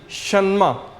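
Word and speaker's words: 什么: word है एस एच ई एन एम ई सन्मा सन्मा सन्मा शमा कैसे pronounce करेंगे सन्मा शमा तो इसका मतलब होता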